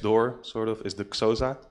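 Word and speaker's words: Xhosa: sort of is the Casa language and I'm not even pronouncing that right because with the X you have to inhale so it's something like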